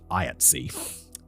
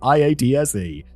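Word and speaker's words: IATSE: I ta specifically told me it's pronounced IATS. Thank you, David. Because otherwise I'd be going through it pronouncing it iats e. Maybe I'll just assume for all American things that it's always shoved together.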